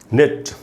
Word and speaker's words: nut: तो हम पढ़ेंगे नीट, निट, नेट, नैट, और उसके बाद हमारे पास नट, नट, जो भी नट होता है, NUT नट। आप देखें इसमें पूरा अ का साउंड है, इसलिए न में